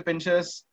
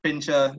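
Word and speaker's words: Pinscher: What weighs more, 8 miniature pincers or 1 Doberman pincer? Because last week the images of the dogs are not to scale. Yes, they are not. Kavit. Okay, so apparently they are pronounced pincher.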